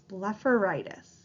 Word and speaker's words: blepharitis: so b e pH we pronounce that pH like an F so the pronunciation of this word is blefaritis go ahead and hit